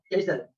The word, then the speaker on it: castle: Not pronounced in a word, such as castle with silent T, island with silent S, and listen with silent T.